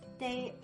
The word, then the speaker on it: 得: The plus a is dai, as in 我得走, meaning I'd better go. Note, this middle word here is usually pronounced de, but sometimes it's pronounced dai, like 我得走.